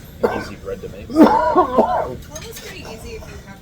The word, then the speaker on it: challah: like challah. You can say challah. Okay. You're like, That's pretty impressive. I mean, that's not an easy bread to make. Challah's pretty easy if you have a stick.